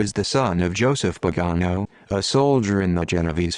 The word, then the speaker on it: Pagano: Daniel Pagano, pronounced Pagano, born 1953, is a